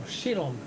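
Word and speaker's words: Chillon: landmark while castle actually this is a chilon castle or shillong castle as you'll probably pronounce it and uh with a bit of an accent and um oh that's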